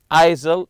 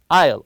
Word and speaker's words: aisle: here don't read it isil it's Isle the S is silent also this is the